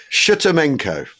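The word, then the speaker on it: Shtemenko: Plus also General Alexei Antonov from the General Staff and Colonel General Sergei Shchemenko. Sorry, I can't say that. Shchemenko.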